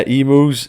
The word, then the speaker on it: emu: Well, back to emus, I think you said. Yeah, emus. Why are you saying emu? How do you say then? Emu? Emu, yeah, surely. Like Emus is like saying a cow moose.